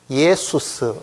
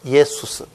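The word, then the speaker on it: Ἰησοῦς: 됩니다니다 예 요거는 수스 이거를 이제 그 헬라 식으로 하면은 이게 예수스 이렇게 읽고 이게 영어 바람으로 오니까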